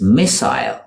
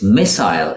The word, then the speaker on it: missile: Similar to mobile is missile. It's missile in the UK and missile in the US.